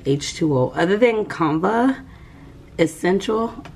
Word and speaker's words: Essentia: H2O other than kava essential is it essential or essential because the other day you told me I said it wrong Essentia um this is